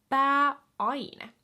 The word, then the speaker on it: pääaine: So again, to feel comfortable pronouncing these words, just make sure you are internalizing this vu system. It breaks up the words into more digestible pieces. Pääaine. Pääaine. Pääaine. So we're not just saying all of these vowels in a big jumble, blah, blah, blah. We're saying pääaine, okay?